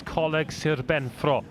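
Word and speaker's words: Coleg Sir Benfro: Of course, colleague Serbenro would be the correct pronunciation.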